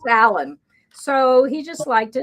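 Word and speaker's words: Aloyn: It was a combination of her parents' names, Alexander and Evelyn, but pronounced Alan.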